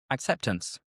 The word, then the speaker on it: acceptance: Or again, we kind of drop the T. Acceptance.